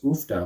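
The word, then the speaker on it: uff da: I'd always heard it as oofda when people say it, but maybe I had bad hearing, or maybe it's regional how you pronounce that word. Do some people say oofda and some people say hoofda? Maybe it's a Swedish Norwegian thing.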